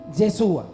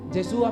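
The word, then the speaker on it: ישוע: por estas calles Jesucristo saben cómo se dice Jesús en hebreo yeshua y cuando queremos decir entonces Jesucristo decíamos en hebreo decimos yeshúa masía de su amasía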